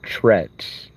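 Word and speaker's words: T'retz: And that allows me to let this other personality trets, and that's spelled T apostrophe R E T Z. It's like saying Tourette's but really quick.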